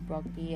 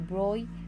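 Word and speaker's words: de Broglie: googled how to pronounce it it's not the bronte is how i pronounced it before it's actually the broi wavelength for the electron and protona shown here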